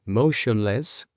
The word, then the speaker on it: motionless: Motionless, como os he dicho antes, la T, la I, la O y la N juntas no se van a pronunciar tion o ton o tion o chon.